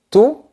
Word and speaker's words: tout: Remarque qu'on ne prononce pas la lettre T qui se trouve à la fin. Tout le gâteau.